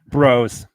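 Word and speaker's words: Brož: Do you want me to tell you Broz. that you said his name wrong? Broz. Is that better? It's Broz.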